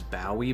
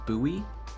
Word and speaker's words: Bowie: By the way, I used to always pronounce it as Bowie, but I just looked it up and apparently it's Bowie.